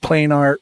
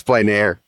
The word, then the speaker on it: plein air: It's plein air. You said plain art.